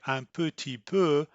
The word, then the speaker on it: un petit peu: in real life because knowing that they say amputee poo doesn't perhaps prepare you to hear the sound pattern so you this is